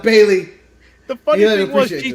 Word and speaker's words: Bayley: He doesn't even say her name right. He calls her Belly instead of Bayley.